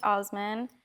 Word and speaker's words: Ousman: Everything is Trish Osman or Usman, whichever one you prefer to pronounce it.